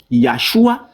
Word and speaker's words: Yahshua: Le docteur Mako déclare, Jésus aurait probablement prononcé son nom comme Yahshua ou une variante étroitement apparentée. Par exemple, la lettre Yod dans Yahshua produirait un son de Y et le Aïn ici,